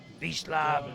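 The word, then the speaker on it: Wiesław: Japan no we have visl Dominic from Poland I think it's vow it's pronounced vishav Dominic 2425 kilos up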